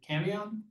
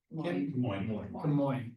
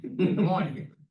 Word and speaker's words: Camoin: And I always butcher their name, but is it Camion? Camoin. Okay, see, I did it again. Camoin.